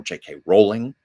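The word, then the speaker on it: J.K. Rowling: And I was so excited when I saw that JK Rowling or JK Rowling which is the correct pronunciation um you know wrote the Harry Potter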